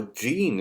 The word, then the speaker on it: Jin: Or Gene, as I have now discovered is the correct pronunciation for his name.